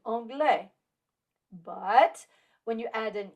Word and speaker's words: anglais: Remember, we do not pronounce the consonant at the end of a word, like the final S in anglais.